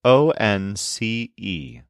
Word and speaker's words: once: This is spelled O-N-C-E. It's kind of like saying one with a se at the end.